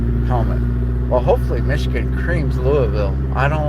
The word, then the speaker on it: Louisville: So, notice how I say it. I don't say it like a northerner. It's Louisville.